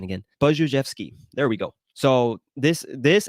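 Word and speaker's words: Budziszewski: Let me look up the pronunciation again. Buzhevsky.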